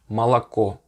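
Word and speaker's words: молоко: it as an ah let me give you an interesting word that has three os in it if you write it but two of them are pronounced as an ah malaco you hear that the first two o's since they're not stressed since the only the last vowel the last o is stressed you say basically so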